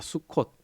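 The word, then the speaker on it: סוכות: 그죠 초막절 있니다음 사실 초막절을 히브리어 발음으로 수콧이라고 발음합니다 수콧 이제 근데 여러분 그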